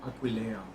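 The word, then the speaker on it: Aquileia: Pronunciation of this town is Aqua.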